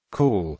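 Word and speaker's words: cawl: symbols of Welsh food cool pronounced in a similar way to the English word cow can be regarded as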